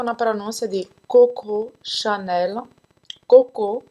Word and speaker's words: Coco: nossa de coco chanel cocô se pronuncia como cocô cocô cocô e janela você vai